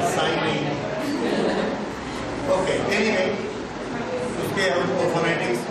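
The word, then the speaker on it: psi: constant is साइ okay it is pronounced as साइ हा चाई कह सकते हैं ये जो स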